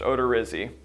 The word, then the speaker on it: Odorizzi: just spell it out it's o d o r i z zi and it's pronounced odor Rizzy wow if we didn't